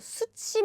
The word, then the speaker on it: 숯이: 숯이 많아요. So they have different meaning, but the pronunciation is exactly the same.